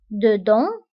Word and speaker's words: dedans: ونتبهوا أيضا بالنسبة ل dedans و dehors كنكتبوهم بأس في آخر الكلمة ولكنها لا تنطق dedans dehors داخل خارج.